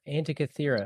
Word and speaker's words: Antikythera: Antikythera.